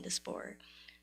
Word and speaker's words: diaspora: people from the African diaspora. Diaspora. I'm just saying what the YouTuber said. No, yeah, because they say it wrong all the time.